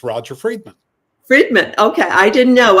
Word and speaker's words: Friedman: very happy to be here and it's Roger fredman fredman okay I didn't know on the pronunciation I should have asked that before we